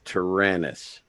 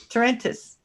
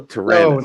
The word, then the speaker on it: Tyrannus: It's Tyrannus. Tarantus. No, Tyrannus. No, Tyrannus. There's no extra vowel. There's no extra T in there.